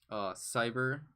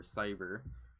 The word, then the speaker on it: CY8ER: But some of the groups like in general like that I'm interested are Cyber, or the way that the group is spelled is CY8ER for Cyber.